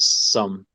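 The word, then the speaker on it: Xumm: By the way, pronounces it Sum, not Zum, which everyone does.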